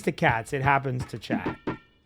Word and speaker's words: chat: If it even happens to cats, it happens to chat. Cat and chat are only two letters apart.